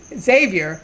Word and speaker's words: Xavier: His name is it's not Xavier. It's Xavier, and actually how he pronounces it is Xavier. Yeah. It's like a Z.